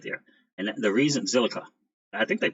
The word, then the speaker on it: Zilliqa: Zilliqa.